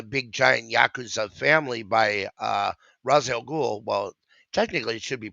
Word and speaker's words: Ra's al Ghul: controlled like a big giant yakuza family by Ra's al Ghul. Well, technically, it should be pronounced Raish, but they go back and forth.